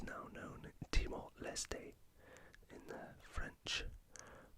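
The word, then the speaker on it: Timor-Leste: East Timor or as it's now known in Timor lestay in the French pronunciation yeah the capital city of demoleste is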